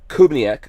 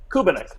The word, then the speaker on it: Kubiniec: My guest is Tom Kubniak. Did I say? I guarantee you I said it wrong already. Kubiniec.